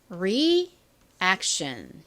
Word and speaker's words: reaction: t i o n입니다 reaction 연결해서 reaction 다시 한번 철차 잘 봐 주시고요 끝에 TI 션 소리 난다 요거 다시 한번 더